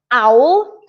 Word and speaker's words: owl: The second is owl, which is exactly the same but without the aspirated H. So howl and owl.